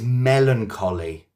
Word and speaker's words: melancholy: You're used to ch c h ch, but melancholy is like with a c.